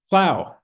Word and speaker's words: Clough: Is it Clough or Clough or Clough? Clough Center? No, Clough. Clough Center.